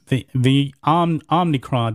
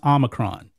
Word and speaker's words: omicron: the transformer variant the omnicron that's what joe biden says because omnicron is pronounced omicron he should learn his greek letters but here we are